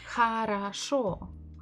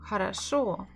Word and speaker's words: хорошо: But if it is letter O, bukva O, why did I say хорошо? Хорошо. Why did I say here and here? And at the end it was just O.